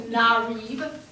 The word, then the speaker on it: Narib: No, I am Narib, and he is pronounced Veester.